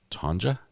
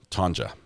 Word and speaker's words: Tanja: Today's birthdays are Izzy, Mackenzie, Shannon, Tanya, pronounced Tanja with the J. Okay, that's interesting because I've got family with with with the Tanya that uh that doesn't pronounce the J. Tanja.